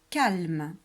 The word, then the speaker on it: calme: Et il y a un E final. Un E muet à la fin du mot.